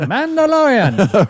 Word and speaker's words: Mandalorian: The Mandalorian rhymes with DeLorean.